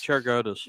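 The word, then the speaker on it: Cheriogotis: And now Spiro, how do you pronounce his name? Cheriogatis? Cheriogatis.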